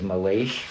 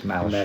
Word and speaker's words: Malache: I believe his last name is pronounced Malashay. I think that I always read it as Malache, but I think it's Malashay. Malashay. Yeah, I think it's Lucifer Malashay.